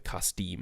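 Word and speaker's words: כַּשְׂדִּים: They were to be taught the literature and language of the Chaldean, or the Kasdim is how you say it in Hebrew.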